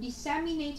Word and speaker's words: disseminate: cô là cái từ disseminate này của chúng ta nó có nghĩa là truyền tải. Disseminate nghe cô giáo đọc thì nó là trọng âm dân tiết thứ hai rồi, đúng không?